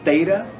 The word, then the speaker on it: theta: The next one is theta. And it is pronounced like a TH.